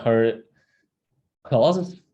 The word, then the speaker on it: Herklotz: Okay, so it's from her, can't pronounce it. It's like her clause.